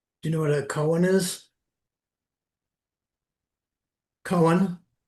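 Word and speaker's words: koan: Do you know what a Cohen is? Cohen. A con. Cohen. No. It's spelled like never.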